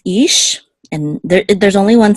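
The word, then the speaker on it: אִישׁ: Okay, the chirik says e. So this is ish.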